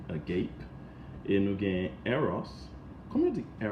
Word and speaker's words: agape: In English is agape. That's how you pronounce it, agape.